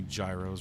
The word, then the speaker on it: gyro: Hopefully you guys who pronounce a Yetto aren't too offended. I know some folks can get very very defensive about that, but I'm an American, so I call it a gyro, like a gyroscope.